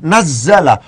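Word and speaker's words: نزّل: Tapi di sini cara bacanya harus diikutkan pada wazan fa'ala. Nazzala. Allahu utawi Allah.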